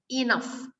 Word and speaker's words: enough: you see the GH the GH is pronounced as F pronounced as F GH I pronounce it like if enough enough next serving serving